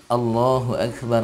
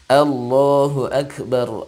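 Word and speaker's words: الله أكبر: allahu akbar allahu akbar pertama dia menggunakan huruf hamzah maka huruf hamzah ini musti bunyinya Allah Ah tidak oh bukan allahuakbar ya tapi Allah maka Allohuakbar Allohuakbar Allohuakbar Allohuakbar atau seperti itu tidak boleh dibaca allahuakbar itu yang pertama Hai yang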